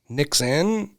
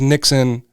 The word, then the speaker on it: Nixon: And I was afraid people would pronounce it differently. Nixin, it just didn't roll off the tongue. And the fact that it was Nixon with the O, it was so odd for people.